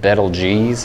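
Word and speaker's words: Betelgeuse: for you if I pretty sure that's pronounced bettle geez I don't know what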